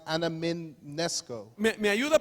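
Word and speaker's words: ἀναμιμνήσκω: Esta mente en griego se pronuncia anamimnesko. So this third mind, it's in Greek and it's pronounced anamimnesko.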